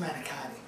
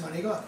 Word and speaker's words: manicotti: Well, it's not pronounced manicotti. It's pronounced manicotti.